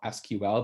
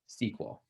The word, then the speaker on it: SQL: you learned it informally, a lot of people will just call it SQL because that's what it looks like. And kind of if you learned it more formally, you'll hear people say it like SQL. But, it doesn't really matter. But just kind of let you guys know that can be pronounced either way.